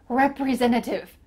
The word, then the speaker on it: representative: You might notice that the T, the first T in this word, I'm cutting out. You can pronounce it. You can say, I'm a sales representative in the middle of that word, but you can just cut it out too.